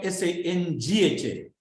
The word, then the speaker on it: Sangha: Now the pronunciation of the N is a guttural N. Why? Because it is joined to a guttural. It is joined to a K or a K, G or G.